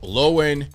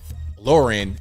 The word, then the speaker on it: Lauren: start first of all lowen Lauren not lowen Lauren bobert or bobert however